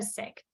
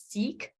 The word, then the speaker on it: Sikh: in the Western World we identify that word those four letters as seek or psych but really it's pronounced sick now obviously in many